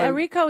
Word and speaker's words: Errico: But you're right now Errico is good.